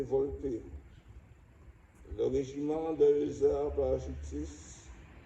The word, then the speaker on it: Volpe: Brigadier Arnaud Volpe, prononcé Volpe, le régiment de hussards parachutistes, 1er RHP, mort pour la France.